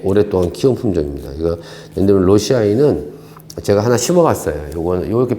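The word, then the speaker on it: lawesii: 로시아이. 옛날에 라웨시라고 발음했는데 사실은 실제적으로 보니까 로시 또는 로시아이 뭐 이렇게 부르는 게 맞는 것 같아요.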